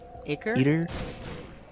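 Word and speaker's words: Eitr: don't know how to pronounce that iter eater I ei r oh uh that's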